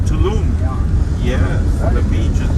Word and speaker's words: Tulum: And Tulu is nice too. Which one? Tulu. Which one? I don't know how to pronounce it. Tulu? Oh, Tulum.